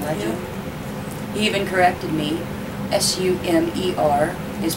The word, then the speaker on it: Sumer: how Sumer Sumer not summer and that was kind of cute as soon as I turned off the camera he's like Mom it's a Sumer not to Summer sorry so he's very